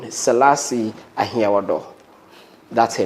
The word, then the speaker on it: Ahiawordor: She is in the person of Salasi Ahiagbodzi.